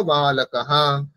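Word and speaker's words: बालकः: বলবো সহা ঠিক কাহা বালকাহা ঠিক আছে এখানে হচ্ছে বালক যে শব্দটি এখানে প্রথমে ব আছে বটি হচ্ছে বর্গীয় ব সেই জন্য দুটি ঠোঁট মিলে উচ্চারণ করতে হবে বালকাহা কাহা বালকাহা আমি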